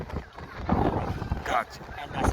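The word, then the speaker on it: Gorée: So they finally decided to modify the English pronunciation, which went from Goede to Goree.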